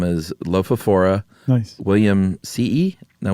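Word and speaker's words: williamsii: It is technically the scientific name is Lophophora William C.E. Now, we decided that two I's means you pronounce both, right? You have to go ee.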